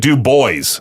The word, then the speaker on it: Dubois: Dubois Dubois No, but it's like Dewboys. It's like D E W hyphen boys.